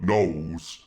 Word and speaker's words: gnoll: Did you know that gnolls bark sometimes when they are eaten? I didn't. Also, they called gnolls, but they also have a G at the front because it's silent.